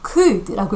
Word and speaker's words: could: 요거 조금 읽을 때 헷갈릴 수도 있는데. 자, could라고 읽습니다.